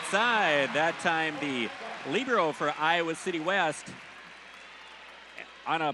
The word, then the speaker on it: libero: word meaning free which the Italians pronounce it libero so we've kind of Americanized it to pronounce it labero so you'll hear it